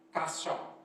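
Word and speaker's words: חסה: Kata berlindung itu dalam bahasa aslinya ditulis dengan kata kasya, tulisannya C-H-A-C-A-H, bacanya kasya.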